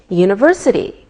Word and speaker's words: university: don't pronounce the H we say a university because university sounds like a wise sound same with a European